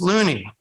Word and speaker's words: Looney: his last name as Looney a pronunciation that rhymes with the last names of the actors Mickey Rooney and George Clooney all members of his